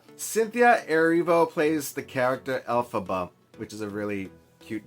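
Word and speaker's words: Elphaba: Uh Alphaba, which of course it kind of rhymes with alphab alphabet, not rhymes, but you know, a little bit like it.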